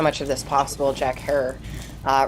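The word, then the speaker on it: Herer: of this possible jack herr uh rhymes with terror for those of you pronouncing it wrong hey what was that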